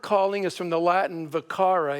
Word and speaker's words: vocare: The word calling is from the Latin vocare. Is that how you pronounce it? I didn't take Latin. Vocare. Vocare. Yeah, no V.